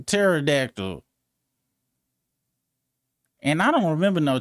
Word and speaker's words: pterodactyl: Ain't nobody else been like, "Oh, it ain't it ain't paradactyl. It's uh pterodactyl."